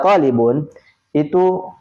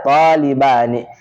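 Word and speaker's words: طالبانِ: Jadi yang benar talibani. Jadi tidak boleh kita mengatakan talibuni, bukan.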